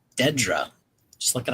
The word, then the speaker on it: Dedra: I don't know why he was calling her Deardra. Her name is clearly Dedra.